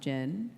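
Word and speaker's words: Jyn: And in the international trailer, they hinted that Jin, I believe her name is pronounced Jin, her father was the one that sent the transmission about the Death Star.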